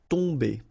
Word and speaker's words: tomber: Okay, so remember, you've got O-M here, but after that you've got a consonant, so it does mean that this combination of O-M will give you the sound on. Okay, you don't pronounce the M at all, so it's really a nasal, so it goes in your nose.